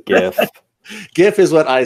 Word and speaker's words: GIF: Hard G all the way, GIF.